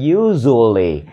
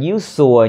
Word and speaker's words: usually: khác annulene Man eats từ này đọc are usually usually usually đừng đọc là uses nha mà la usually